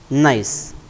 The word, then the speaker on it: gneiss: Now, the next type of the metamorphic rock, that is gneiss. Spelling is different and pronunciation is different.